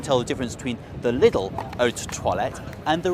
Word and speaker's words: Lidl: Lidl, the German supermarket, or Lidl as we're meant to pronounce it, is more famous for its Black Forest ham.